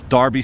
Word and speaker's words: Derby: the Americans pronounce it Derby the Kentucky Derby the Indianapolis 500 Derby or do you guys the the Americans say Darby as well even though it has an e in it Derby Derby potato potato